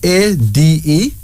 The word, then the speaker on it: Ade: Our first female name is Ade. That's A-D-E, pronounced as Ade.